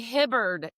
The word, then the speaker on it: Hibbard: Today I have with me Cody Hibard.